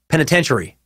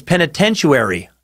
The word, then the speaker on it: penitentiary: Kim writes, again with the mispronouncing of the word penitentiary. It does not have a U in it. You have pronounced it as penitentiary.